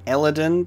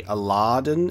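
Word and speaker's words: Aaladin: So it's pronounced Eladin, but the way that it's written, you'd think it would be Aladin, and it would kind of hang on the A a bit, considering double A.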